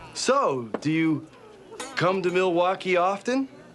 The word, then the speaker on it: Milwaukee: In fact, isn't Milwaukee an Indian name? Yes, Pete, it is. Actually, it's pronounced Milywalk, which is Elgangquin for the good land.